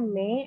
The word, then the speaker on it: mais: Oh ya, itu dibacanya me, artinya itu tetapi.